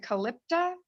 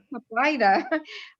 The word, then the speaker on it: Caplyta: How do you pronounce it? Calypta? Caplyta.